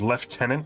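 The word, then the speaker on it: lieutenant: there's no excuse for the British pronunciation of left tenant to be blunt mom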